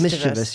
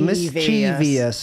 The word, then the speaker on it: mischievous: basically a different word mischievous or misch mischevous you're adding a whole another syllable yes you are all right oh God here we go mischevous Mis mischi mischievous yes true that would